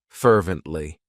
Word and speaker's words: fervently: It has 3 syllables, and the stress is on that first syllable, fervently.